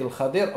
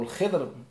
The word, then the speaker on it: al-Khidr: Allah Ta'ala lorsqu'il nous parle de l'histoire de Moussa alayhi salam avec al-Khadir ou al-Khidr par rapport à la différentes prononciations, et il nous parle d'un certain jidar, d'un certain mur.